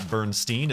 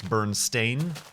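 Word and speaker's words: Berenstain: covers it's spelled differently it's not Burnstein it's burn stain s a i n as opposed to e i n and people freak out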